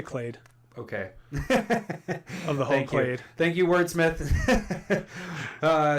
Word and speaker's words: Clade: so next card is vorel of the hall clad right I'm pronouncing right Larry check it I say clade okay wait thank you